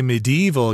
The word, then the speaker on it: medieval: to pronounce this word one is medieval with an extra syllable in there but i just kind of skip over that syllable and say medieval and